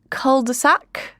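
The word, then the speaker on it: cul-de-sac: This hung parliament has led the country in an absolute and I'm going to try to say it the British way. Culdeac.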